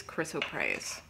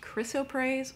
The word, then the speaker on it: chrysoprase: pronunciation of this gemstone, there are two ways to say it. And even dictionaries will write out the phonetic pronunciation differently. So it could either be pronounced chrysoprase or chrysoprase. And I've heard both, and online it's about a 50-50 split for that.